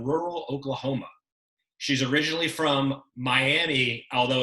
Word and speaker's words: Miami: She's originally from Miami, although it's pronounced Miami.